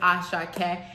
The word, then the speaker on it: Asake: lady is like oh your name is as sh that's syllables those like three syllables as Sha and I've heard all